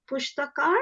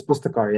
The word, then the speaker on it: Pustakar: working with your NGO, the Pushtakar, is that right? Have I said it right? Yeah, it's Pustakar, yeah.